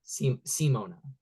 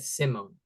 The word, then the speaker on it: Simona: her in her intro she said Simona I've always said Simone that's what I don't want to say your name wrong Simona like her intro